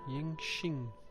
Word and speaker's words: Yanqing: Nicht wie K, sondern wie Yanqing.